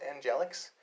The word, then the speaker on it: Angel X: I made a character named Angel X, which is pronounced Angelix.